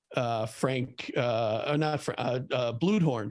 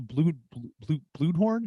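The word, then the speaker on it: Bluhdorn: He got that Charles Bluedhorn. Is that how you say it? Bluedhorn, yeah.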